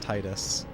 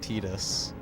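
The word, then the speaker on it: Tidus: examples of that obviously Titus is not who unfortunately not really pronounced Titus but tetus and what else there's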